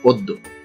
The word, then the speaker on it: অদ্য: এখানে দুটি নিয়ম আছে, সরিয় এবং জফলা। সরিয় কেন উচ্চারিত হচ্ছে এবং জফলা কেন উচ্চারণ হচ্ছে না, এই ব্যাপারে আমাদের অধ্বনি সরিয় ধ্বনি উচ্চারণ নিয়ম এবং জফলা উচ্চারণ নিয়ম এই ক্লাস দুটি দেখে নেবেন, তাহলে এই জিনিসটি পরিষ্কার হয়ে যাবে। এর সঠিক উচ্চারণ হচ্ছে অদ্য।